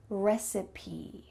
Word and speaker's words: recipe: Make sure that you say that final E. Recipe, recipe.